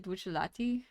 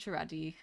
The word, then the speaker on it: Bucciarati: I always pronounce it Bucciolati. Bucciolati. I thought it was Bucciarati.